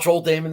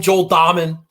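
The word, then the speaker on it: Dahmen: i can gather about joel damon this week nobody calling him joel diamond huge pet peeve of mine i could understand getting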